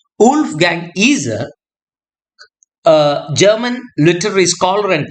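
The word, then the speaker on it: Wolfgang Iser: a reader and according to Wolf Gang eer pronunciation Wolf Gang eer uh German literary scholar and theorist known for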